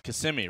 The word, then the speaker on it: Kissimmee: college career over in orlando at ucf it's pronounced kissimmee right yes florida used to be the home